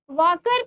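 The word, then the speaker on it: Walker: कप ठीक है क्या वकर कप एल यहां पे साइलेंट होता है य उसको वकर कप पढ़ते हैं कप इज एसोसिएटेड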